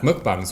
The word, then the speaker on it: mukbang: Mukbang, like you spell it. Mukbang. M-U-K-B-A-N-G. Mukbang.